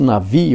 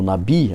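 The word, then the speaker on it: נביא: Ele pronuncia-se Navi ou Nabi, alguns, né?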